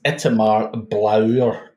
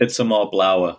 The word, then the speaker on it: Itamar Blauer: And the name is Itamar Blauer. Is that correct? Itamar Blauer.